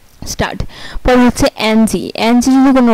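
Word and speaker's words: Stadt: তারপর যদি কোনো ওয়ার্ডে ডিটি একসাথে থাকে তাহলে এর উচ্চারণ হবে টয়ের মতো, যেমন এসটিএ ডিটি, স্টার্ট। এই যে ডিটি একসাথে আছে তাই এখানে ট হয়েছে, স্টার্ট।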